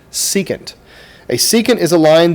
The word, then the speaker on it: secant: term here is the word secant this is pronounced secant a secant is a line that intersects the